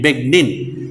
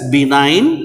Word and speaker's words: benign: the b9 actually b g n i n big nin but we have to pronounce it as b nine and another one is malignant malignant are the